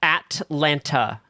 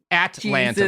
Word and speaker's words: Atlanta: Also, it's Atlanta. Atlanta, like the at symbol, like that's how Push you spell those T's.